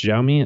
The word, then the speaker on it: Xiaomi: a big thing with is it it's xiaomi i know i never i know that that's how i should say i never actually pronounce